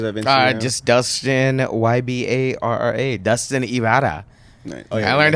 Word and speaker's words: Dustin Ybarra: Dustin Ybarra. Nice. I learned how to pronounce it.